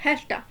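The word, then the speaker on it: has to: टू को बोलते हैं हैस्टा। वो जेड का साउंड प्रोनाउंस नहीं करते हैं, हेस्टा नहीं बोलते, हैस्टा बोलते हैं, क्योंकि ये इसमें वो वाइब्रेशन नहीं है, तो उसको बोलेंगे हैस्टा, हैस्टा।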